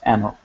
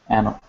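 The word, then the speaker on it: ⲁⲛⲟⲕ: So it's pronounced anok, anok, and that just means I.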